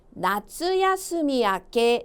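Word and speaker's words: 夏休み明け: 발음이요. 무슨 아케? 그쵸. 나츠야스미 아케 되겠습니다.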